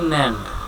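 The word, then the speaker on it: NAND: আচ্ছা, তাহলে অ্যান্ড করার পর, নট করার পর আমরা যেটা পাইলাম এটাকে বলা হয় ন্যান্ড। তাহলে আমরা একটু পড়ি এটাকে কিভাবে পড়তে হবে। কথাটা কি? এ উচ্চারণ করবো কিভাবে?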